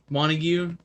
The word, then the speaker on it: Montague: herself and after that point i remember dr mona tag if i don't know is that how you pronounce his name one of you montague yeah dr montague sent her away and she